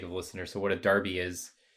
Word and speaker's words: Derby: for the sake of listeners so what a Darby is it's um it's actually spelled Derby but it's pronounced Derby it's this uh local rivalry between